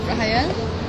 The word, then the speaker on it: Rahayel: Rahayel, right? Rahayel, correct? Yeah. Please say it. Rahayel.